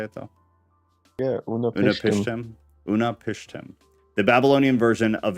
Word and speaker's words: Utnapishtim: Yeah, Unapishtim.